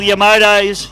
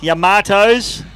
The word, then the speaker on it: Yamato: sponsons here those boys the little Yamoto Yamato we got to get the pronunciation right the young fell pulled